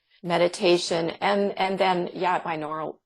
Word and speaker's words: binaural: and and then yeah binaural binaural beats I think is how it's pronounced um right and and